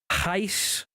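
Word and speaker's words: Reis: played against Lon Arian I think it was Heist like rice Heist whatever Brazilian kid he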